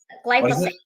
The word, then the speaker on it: glyphosate: can't say it gly glysophates how how you pronounce that word glyph glyphosate glyat thank you yeah I'll work on that